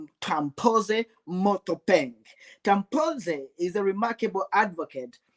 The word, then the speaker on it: Tampose Mothopeng: I usually call him TP, but for purposes of this show, I will pronounce this very complicated name, Tampose Mothopeng.